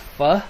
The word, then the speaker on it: pho: It's pronounced pho, I think, but I always call it faux because yeah.